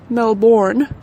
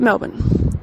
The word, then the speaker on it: Melbourne: here in Melbourne Australia not Mel borne as we have constantly been hearing to I shut it down my spine but Melvin alright it's Melvin guys you just you can't you can't pronounce it okay you just you gotta pronounce it as if there are no vowels in this word whatsoever and you're just trying to smush the whole thing into one syllable okay Mel that's it